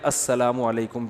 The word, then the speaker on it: السلام علیکم: میرے بھائی کا السلام علیکم اور صلی اللہ علیہ وسلم کا صحیح تلفظ بتا دیں. السلام علیکم کا ہے السلام علیکم, جو آج کل لوگوں نے ساشے پیش کر